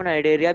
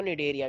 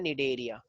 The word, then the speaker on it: निडेरिया: Coelenterata को नाइडेरिया भी कहते हैं। हाँ, सीलेंट्रेटा को निडेरिया भी बोलते हैं, ये सी साइलेंट होता है, तो ये मेरे पास होता है निडेरिया, ठीक है।